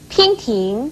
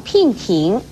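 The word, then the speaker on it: 娉婷: 娉婷是指女子的容貌体态都很美而言，所以娉婷不可以念成聘婷，而驰骋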